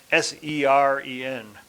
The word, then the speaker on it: Seren: It's spelled S-E-R-E-N, but it's pronounced Seren.